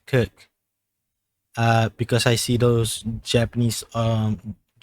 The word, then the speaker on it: Circe: It's spelled that way, but it pronounced Kirk. Because I see those Japanese titles as well. This Kirk.